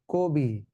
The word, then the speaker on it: কবি: আদ্য, এই যে অ এর পরে হ্রস্বই থাকলে তাহলে আদ্য অটা সংবৃত হবে। ক এর সঙ্গে যে অ আছে, সেই অটা এখন সংবৃত হয়ে ও হয়ে যাবে, অতএব উচ্চারণ হবে কবি।